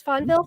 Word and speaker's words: Fonvielle: you for being here this is lauren fun funville yes fonville yes correct pronunciation she is an integrative energy practitioner is